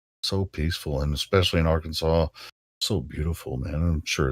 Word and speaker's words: Arkansas: it's got an r in it you know Arkansas oh no I haven't heard that way but